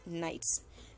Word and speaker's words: knight: K is silent, so we will pronounce it as knights.